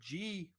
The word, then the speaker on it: Ji: And it was founded by this family called the Ji family.